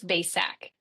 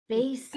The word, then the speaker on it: Bacak: asked her how to pronounce how to pronounce her name. Did I say it right? Pretty close. Not many people. It's Basac. Basic.